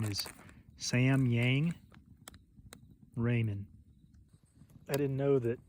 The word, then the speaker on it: Samyang: I believe the Korean pronunciation is Samyang Ramen.